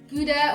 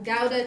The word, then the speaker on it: Gouda: And we've got some Kerrygold, Gouda or Gouda cheese, depending on how you say it, and some goat's cheese for me.